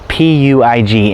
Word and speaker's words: Puig: There was a female Italian tennis player whose last name was P-U-I-G, and the announcers pronounced it as Puig.